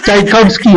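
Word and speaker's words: Tchaikovsky: musikero na tulad nila Chay Kobski nahirap bangitin Cha Kobski yan an pronounce e and alam naman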